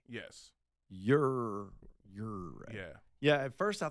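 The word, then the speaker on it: Ouray: So got two calls in the people say it's pronounced your way, Colorado. Ure. Yes. Ure.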